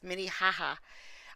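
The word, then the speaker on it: Minnehaha: gets you know yes mini haha I think they pronounce it mini ha though that's how she pronounces It Anyway mini ha which is just sad because it's spelled minihaha which is why I love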